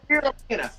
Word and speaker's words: spirulina: Oh, spirulina. It's spelled S-P-I-R-U-L-I-N-A.